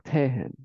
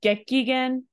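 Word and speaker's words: 激減: Kehen or Tehen. You know what this means, but you're not pronouncing it right. It's a gekigen.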